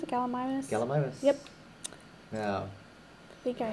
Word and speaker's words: Gallimimus: Is that how you pronounce it? Gallimimus? Gallimimus.